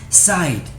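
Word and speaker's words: -cide: It is pronounced as Cide.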